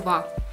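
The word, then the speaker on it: は: сразу приходит до частицы которая вас пишется буквой h но читается во частица во означает тему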